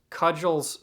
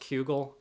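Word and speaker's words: Cugel: that are absolutely breathtaking cudgel's Saga I've had my Knuckles wrapped that it's pronounced kugel I don't know well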